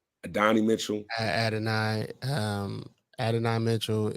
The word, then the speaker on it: Adonai Mitchell: Mitchell ad I um Adonai Mitchell is Adan Mitchell okay ad Mitchell that's how people pronounce it ad um with Adan